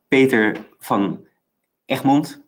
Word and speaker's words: Peter van Egmond: This is Peter van Egmond, that's pronounced in Dutch.